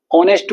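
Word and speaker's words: honest: ऐसे ही ऑनेस्ट को हम ऑनेस्ट तो नहीं बोलते। एच तो नहीं बोलते तो एच में एच साइलेंट होता है। ऑनेस्ट बोलते हैं।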